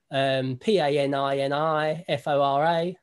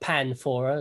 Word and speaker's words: Paninifora: me online at Paninifora, Paninifora, not Panfora, as some people pronounce it. There's too many ninis in there.